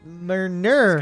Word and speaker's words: Murner: It's an N actually. He's Murner.